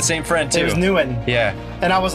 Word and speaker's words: Nguyen: It was Nguyen.